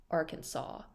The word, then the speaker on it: Arkansas: the state's name shall be spelled Arkansas but pronounced Arkansas this shows just how often the name is